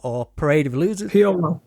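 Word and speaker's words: P.O.L.: Did you pronounce it POL or was it Paul or Parade of Losers? POL, P period, O period, O. It was like PIL, but POL.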